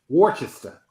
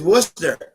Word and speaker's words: Worcester: uh Worchester close yeah you guys are throwing an H in there I don't see yeah well I was pronouncing it that way uh Washington I think I have it better the first time what is it Sean it is Worcester Worcester oh come on